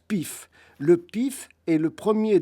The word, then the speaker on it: PIF: du parti inertiste français ça s'écrit pif PF et ça se prononce pif le pif est le